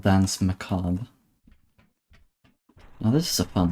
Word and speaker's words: Macabre: Um this is 73 and the song is called um that song was called dance macob. Now this is a fun level. Macob as in it's a weird spelling.